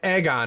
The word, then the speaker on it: AGON: this and it's a Greek word it's uh Egon is how he pronounces it um and it's the newest thing